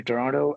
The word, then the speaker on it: Toronto: I've been there twice I'm still learning to say it like the locals do I think you got to you got to not say the last te right it just slips off your tongue but I'll get there